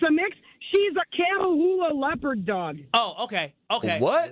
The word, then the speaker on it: Catahoula: Cattle Leo. No. Leah. No. Catalea. No, Catahoula.